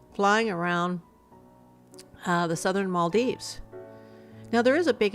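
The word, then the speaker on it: Malé: of the capital came it's pronounced as Mal M the pronunciation is not mal or mal or M the pronunciation the correct pronunciation of the capital of males is Mal okay so we'll go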